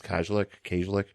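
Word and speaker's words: Kajlich: I always say her name wrong. It's Kajlik.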